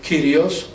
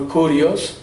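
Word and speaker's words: κύριος: I was just saying, when we call God Lord, that word in Greek, Kyrios or Kurios, depending how you want to pronounce, but that word means that He is the absolute owner.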